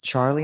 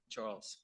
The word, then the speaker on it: Charles: It's Charlie, am I saying it right? Charles.